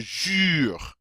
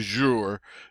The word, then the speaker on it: jure: It's like saying a long E sound in English through rounded lips. And you might want to try that. Just round your lips, pucker up. Round your lips and say a long E sound through those, and it comes out U, U. So this is je jure, not je jure, je jure, ur.